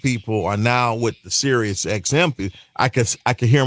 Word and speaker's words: Sirius: I was on Sirius. People couldn't even pronounce it. He said, man, I heard you on Cyrus.